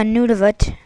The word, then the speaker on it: Nunavut: cold air up over northern Canada through a Nunavut i believe it's pronounced in canada and then it basically brings